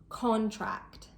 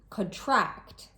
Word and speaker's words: contract: As a general rule, with 2-syllable nouns, the stress is placed on the first syllable. Content, contract, object, record. And with 2-syllable verbs or adjectives, the stress is usually placed on the second syllable.